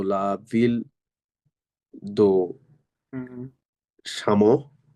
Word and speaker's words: Chamonix: Chamonix সামনি, Chamonix হুম, de Chamonix হুম, au sud de la Suisse sweet, ওকে, et au nord de l'Italie, ওকে।